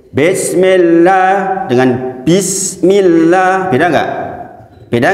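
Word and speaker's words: بسم الله: Kemudian lafzul jalalah, la di situ dibacanya tipis, tarkik. Karena apa? Didahului harokat kasroh. Nggak boleh bismillah atau bismillah, itu nggak boleh. Karena semua yang didahului harokat kasroh di dalam lafzul jalalah, maka bacanya adalah tarkik. Tarkik itu tipis.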